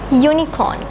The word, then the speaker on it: unicorn: so you have to say for number four unicorn if you can remember the point I taught you earlier this hue is pronounced as why you you sound so we